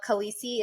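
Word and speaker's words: Khaleesi: reference for my game of she considered herself kisi is that how you say it yes that's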